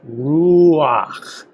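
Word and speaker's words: רוח: You'll notice that it's written a little bit to the right of the chet, and so it actually is pronounced before the chet, not after. So this is ruach.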